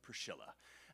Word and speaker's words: Priscilla: well-known ones this is called the um Priscilla catacomb or as they pronounce it in Rome Priscilla so the Priscilla catacomb